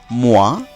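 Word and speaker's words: mois: এরপরে শব্দটি হলো মোয়া, এখানে চারটি বর্ণ রয়েছে এবং শেষ বর্ণটি এস, তাই এটি অনুচ্চারিত থাকছে, এর উচ্চারণ হবে মোয়া।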